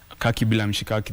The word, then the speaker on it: KakiBilamshikaki: So KakiBilamshikaki, the first Kaki rhymes with the last Kaki, so it's poetic.